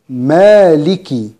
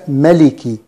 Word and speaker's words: مالك: كلمة مالكي، هناك ألف صغيرة تمد بمقدار حركتين بعد الميم، نقول مالكي وليس ملكي وليس مالكي يوم دي كما نسمع، تمد بمقدار حركتين فقط، مالكي مالكي.